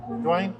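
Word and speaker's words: Duine: And it's a good job I read that because how would you pronounce that? D-U-I-N-E? Dwayne?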